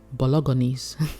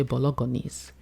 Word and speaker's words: bolognese: he pronounces it as bolognese he can't he can't make the g silent he call me so bolognese nope nope you say bolognese and he's ten and